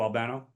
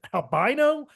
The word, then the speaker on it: Albano: with Captain Lou yet Captain Lou Albano Albano yeah because he was said albino like that's what I say yeah because it's Albano is it Albano oh